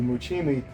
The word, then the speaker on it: muchi: So the muchimi, well, muchi is just the Okinawan pronunciation of mochi, right?